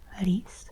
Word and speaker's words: рис: Ree is rice.